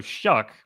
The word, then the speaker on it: Shough: So, Shuck, it's weird, right? S H O U G H. There is a player for Florida, the men's basketball, whose whose name is Hal, and it is spelled H O U G H, but it's not Huck.